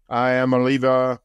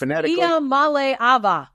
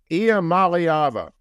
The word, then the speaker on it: Iamaleava: Don't let Nico Iamaleava. Did I get close on that, Jacko? No, you didn't actually. I didn't. So you can't say it phonetically. It's Iamaleava. Iamaleava. Yeah, it's 6 syllables.